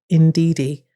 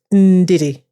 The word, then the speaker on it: Ndidi: indeed it's indeedy but if you talk to my mom it's Indi that's how you pronounce it so in a way